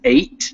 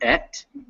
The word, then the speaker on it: eight: That word is eight, not et.